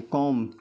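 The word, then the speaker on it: comb: तो यहां B silent है। कॉम कॉम में बी को नहीं बोलते हैं।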